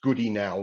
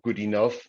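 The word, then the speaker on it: Goodenough: It was first proposed in 1979 by a fellow called John B, and it's pronounced Goody now, not good enough, although still John B.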